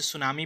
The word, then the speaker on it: सुनामी: है और आप इसे सुनामी पढ़ रहे हैं, तो स्टूडेंट यहाँ पे टी साइलेंट हो जाता है। ठीक है, और उससे सुनामी ही पढ़ा जाता है।